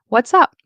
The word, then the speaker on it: what's up: The stress is on up. So, what's up? What's up?